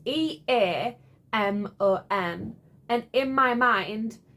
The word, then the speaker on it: Eamon: So it's E-A-M-O-N. And in my mind, I am pronouncing it as Eamon. Kind of like semen without the S.